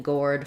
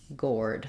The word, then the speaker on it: gourd: or diphthong um and so it rhymes with the word chord um and so just thinking about building gourd from ore Gore gourd that was would be how I would approach that word um great and then